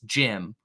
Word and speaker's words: Cem: confusing to me but his name is spelled cem but I think it's Jim which is confusing to me so Jim caran